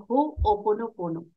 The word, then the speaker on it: Ho'oponopono: point यही है कि टेक 100% रिस्पांसिबिलिटी तो हो ओ पोनो पोनो इसकी स्पेलिंग है एच ओ ओ पीओ ओपो नो